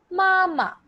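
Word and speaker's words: 妈妈: So if I want to say mother in Chinese, mama, mama. So ma, first tone, ma is the neutral tone here. So mama.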